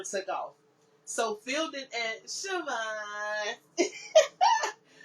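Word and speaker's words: Chavannes: And how you say the name in French is Siobhan.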